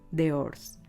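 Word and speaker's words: d'Ors: Se escribe así, D''O''R''S, de Oors.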